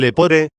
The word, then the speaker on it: lepore: mencionado anteriormente relativo al lepore. De hecho, además de alargar, hay que acentuar también la penúltima sílaba de esta palabra, si se ha declinado a partir del lepos y no del lepus.